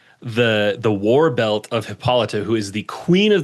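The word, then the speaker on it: Hippolyta: I was going to say hippolita.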